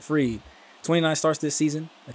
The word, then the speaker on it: Fried: I'm pretty sure that's how you say it, Fried.